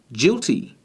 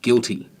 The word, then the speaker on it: guilty: This word here has a G that comes before an I, so it should be pronounced jilty. If we add the U in, then it now becomes a hard G and we get the proper spelling of the word guilty. With this word here, if